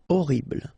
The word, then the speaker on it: horrible: Horrible. Okay, first letter is H, but then we don't pronounce H, so you don't pronounce it. And the first thing you hear is O. Horrible.